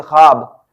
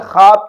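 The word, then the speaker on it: خواب: please आप focus करें खे वाव अलिफ खा का साउंड होगा ना कि ख्वा का खा हर खवाब तख्ते ख्वाब अब यहां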